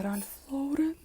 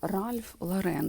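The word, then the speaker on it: Ralph Lauren: Ральф Лоурен. Ларен ла Ральф Ларен, здається, так правильно вимовляти.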